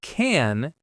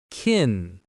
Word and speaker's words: can: So instead of and you it's finally the word can is never stressed here. Instead of can it becomes canin.